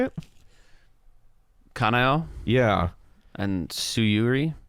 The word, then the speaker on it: Kanao: Kanao Yeah.